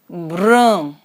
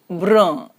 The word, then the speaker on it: brun: Brown is brun, brun. Un is as we did in the articles unde, the pronunciation is so it is brun, and in feminine it is brune, brune.